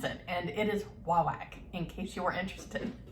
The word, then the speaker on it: Wawak: machine and listens for them and how they pronounce it and it is huawei in case you are interested anyway all right